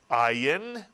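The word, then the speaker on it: עין: If you said silent, you are correct. This is the silent ayin, and both the ayin and the aleph are the two silent letters in the Hebrew alphabet. They make no sound of their own. They simply make the sound of the vowel under or next to them.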